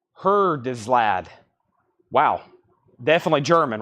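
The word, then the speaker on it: Herzeleid: It's pronounced Hertislad. Hertislad. Hertislad.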